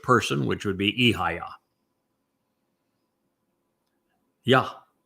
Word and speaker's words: Yah: Yah is the first syllable of Yahweh's name. You could make it Yah, but it's the Y in Hebrew is pronounced identically to the Y in English. It's where we get it, that pronunciation. So it's Yah, as in Hayah. And the ending, the concluding